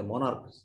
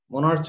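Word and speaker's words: monarch: এরকম অনেক ওয়ার্ড আছে যেখানে সিএইচ এর উচ্চারণ ক, মোনার্ক, MONAR সিএইচ, মোনার্ক, মোনার্চ হয় নাই, মোনার্ক।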